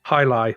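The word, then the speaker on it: jai alai: high do you know that's pronounced a High Lie by the way is how that sport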